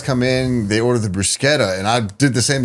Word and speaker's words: bruschetta: Bruschetta? Bruschetta. It's actually pronounced bruschetta.